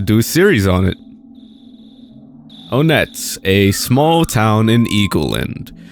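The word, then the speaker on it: Onett: Onet, a small town in Eagleland. And also, I don't care if it's like Onet or Onet or whatever. I'm saying Onet, okay? That's how I say it, okay?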